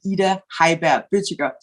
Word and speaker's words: Ida Heiberg Bøttiger: As Beth said, my name is Ida, and in Danish, I would be Ida Heiberg Bøttiger, but I don't expect any of you to pronounce it like that.